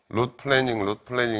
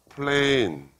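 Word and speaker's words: planing: 중요한 거예요 지금 할택슬 영어로 플래닝 이렇게 발음하는데 그건 틀렸고 플레인 어떤 평면이라는 플레인 플레잉 플레인이라는게 동사로서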